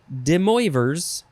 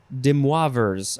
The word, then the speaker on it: De Moivre's: The next word is De Moivre's theorem. De Moivre's theorem, or Demoivre's. That seems like the better way to say it. De Moivre's, I think that's it.